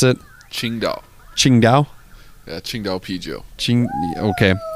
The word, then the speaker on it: Tsingtao: We're doing, how do you pronounce it? Tsingtao.